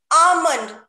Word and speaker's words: almond: should pronounce it as onion and the next pronunciation is almond almond not l should not pronounce in this